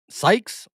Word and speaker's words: Sykes: Hustler said it's pronounced Skies or Sykes. Sykes.